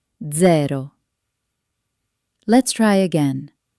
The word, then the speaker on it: zero: In English, it's soft, but in Italian, it can sound like ts ts ts as in pizza or dz dz as in zero. Let's try again. Pizza. Pizza. And zero.